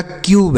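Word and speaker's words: cube: जैसे सी से हो गया आधा क। और यू का उच्चारण होगा यू। क्यों होगा? क्योंकि यू के बाद एक अक्षर छोड़ने के बाद इ है। और बी से यहां पर ब हो गया। यह हो गया क्यूब।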